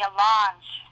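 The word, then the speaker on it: allonge: something and I would also ask for the alange it's spelled a l l o n g e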